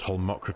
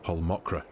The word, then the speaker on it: Holmakra: of the Survival Series so obviously I've just pronounced whole mokra correctly this time sincerest apologies to my Scandinavian